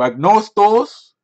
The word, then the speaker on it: Άγνωστος: listening to Greek we're gonna be listen to ignore stalls and I owe a dose that's how you pronounce it that means unknown X its X